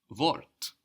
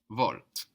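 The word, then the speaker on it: Wort: to t-shift we've seen the word vort the word for word which is spelled w o r t vort we so loud which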